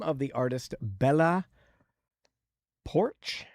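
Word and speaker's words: Poarch: The name of the artist, Bella Porch. I think that's how you say it. Porch. It's got an A in there, so it's longer.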